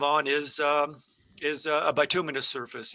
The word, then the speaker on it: bituminous: answer that you did very well with the pronunciation right it's uh bituminous it's uh that's close yeah it's the it's